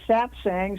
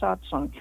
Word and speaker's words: satsang: saying some people say satsang some people say satsang okay well wherever whatever